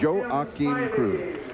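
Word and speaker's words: Joaquim Cruz: to Cruz this morning his name has been pronounced several ways he pronounces it Joe Akin Cruz Chuck Aragon is in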